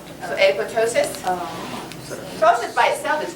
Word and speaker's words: apoptosis: cells uh cytokinesis nope the second p is silent so apoptosis um Frozen by itself